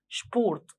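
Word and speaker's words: Sport: نفس الحروف بس النطق اختلف شوية، من سبورت شبورت.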